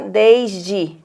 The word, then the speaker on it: desde: É o D mais esse símbolo e a gente fala desde. E o E final é pronunciado I.